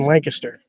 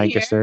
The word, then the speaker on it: Lancaster: So how did you end up in Lancaster?